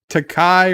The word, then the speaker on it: Takei: richards is very prey takai rhymes with okay to k to k george takei excuse me excuse me